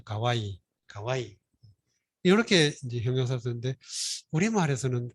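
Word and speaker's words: 可愛い: 가해 커아이 그래서 근데 커아이인데 일본어도 이걸 똑같이 써가지고 발음은 좀 다르죠. 가와이 이렇게 이제 형용사 쓰는데 우리말에서는 귀엽다, 뭐 아름답다, 예쁘다, 사랑스럽다, 뭐 이렇게 말하죠.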